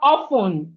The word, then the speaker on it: often: So this is called often, often, not often. Often, often, often. The T in often is silent.